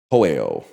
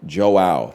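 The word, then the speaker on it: João: You say it like Joe. Okay, I was going to say Hoeo. So Joe is Joao. Joao. Much better.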